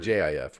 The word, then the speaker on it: GIF: I call it a GIF because GIF, G is hard. It's a hard G before a vowel, so it's a GIF. Yeah, but apparently the guy that invented it said it's a GIF. A GIF. GIF is GIF what like JIF.